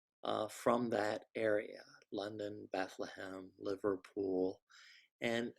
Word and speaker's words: Bethlehem: London Bethlehem Liverpool and how would an Englishman perdu pronounce Bethlehem well they might pronounce it that long Bethlehem that lump so you can see where the word bedlam Bethlehem came from and if you were